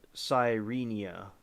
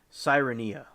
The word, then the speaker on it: Sirenia: were other sea ramls of the sirenia no wait sireni order namely the Sellar seal see which what is this exactly now I said it right the first time sirenia which were native to